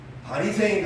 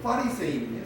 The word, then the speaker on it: 바리새인: 그래서 우리나라 지금 뭐 아까 얘기했습니다만은 바리새인 할 때 파리세이거든요. 그 파가 대파, 쪽파 할 때 그 파가 아니라 F 발음의 파거든요. 그래서 파리새인이에요, 사실.